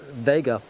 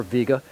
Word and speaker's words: Vega: case I use the star Vega or Vega and I pronounce it Vega and I I put